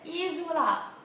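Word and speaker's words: isola: ناخد بالنا ان الاس ما بين حرفين متحركين فبتتنطق ز، ايزولا ايزولا.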